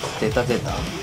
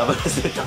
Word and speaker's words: ZZ: アボロスゼータゼータ。ゼータゼータダブルゼータゼータゼータって読むそれ。、は